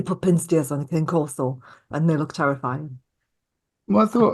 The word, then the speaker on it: Cane Corso: took the mick out of me for not pronouncing it correctly, which was a Cane Corso. You say Cane Corso and I say Cane Corso.